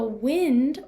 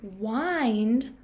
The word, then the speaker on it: wind: Grandpa will wind up the toy for you. So hear the difference in the pronunciation. One says wind and one says wind. But they are both spelled the same.